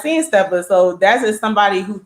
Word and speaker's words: Steppas: yeah, it's seeing SEEING, and then it's steppers, but it's steppers. It's Right. STEPPAS.